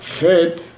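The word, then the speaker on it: חית: Het é mais aberto. Het. Chaf, mais fechado. Chaf.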